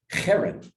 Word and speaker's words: herem: The H usually sometimes it has a dot under it because it's way down in your throat.